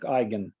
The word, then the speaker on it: eigen: on to eigenvectors uh i think that's from german so they are pronounced like eigen um this is uh not english uh this is from german so they it's not english pronunciation um okay so let's